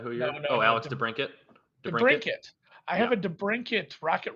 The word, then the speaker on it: DeBrincat: DeBrincat.